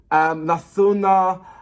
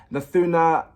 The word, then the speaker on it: Nathuniya: And I have Google Translate to make sure that I'm pronouncing the name right because I wanted to get it right. So it's Khesari Lal, Nathuniya, Priyanka Singh, Nathuniya, Arshiya, and Arshi. So that's the artist and the song, I believe.